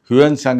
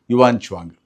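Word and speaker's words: 玄奘: ಬದಲಾಗುತ್ತೆ ಬದಲಾಗುತ್ತಾ ಇತ್ತು ಕೂಡ ಯುವಾನ್ ಶ್ವಾಂಗ್ ಬಂದ ಸಾವಿರಾರು ವರ್ಷಗಳ ಹಿಂದೆ ನಮಗೆಲ್ಲ ಗೊತ್ತೇ ಇದೆ ಅವನು ಕರ್ನಾಟಕಕ್ಕೂ ಕೂಡ ಬಂದಿದ್ದ ಹಾಗೆ ಅಂತ ಹ್ಯುನ್ಸಾಂಗ್ ಅಂತ ಹೇಳ್ತಾ ಇದ್ರು ಅದು ಆ ಒಂದು ಸರಿಯಾದ ಒಂದು ಉಚ್ಚಾರಣೆ ಯುವಾನ್ ಚುವಾಂಗ್ ಅವನು ಕೂಡ ದಾಖಲೆ ಮಾಡಿದ್ದಾನೆ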